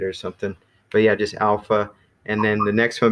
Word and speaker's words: alpha: So yeah, so if we can together pronounce these, so again, you're gonna put emphasis on that first syllable, alpha. Can everybody say alpha?